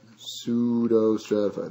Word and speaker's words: pseudostratified: absorption right down below pseudostratified that's how this is pronounced everybody struggles with a pseudo like pseudo remember pseudonym and your English class is the pen name